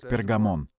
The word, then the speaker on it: Пергамон: церквей эфес смирно бергом название этого города произносилось первом веке как пергамон фио терра sargis филадельфия